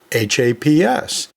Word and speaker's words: HAPS: anatomy and physiology society h-a-p-s that's pronounced as a word it's pronounced haps so that fits this